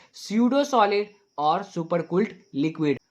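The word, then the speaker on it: pseudo: Extra लिख दिया, नहीं, ये पी साइलेंट है। इसको हम लोग स्यूडो सॉलिड पढ़ते हैं, क्या पढ़ते हैं, स्यूडो सॉलिड।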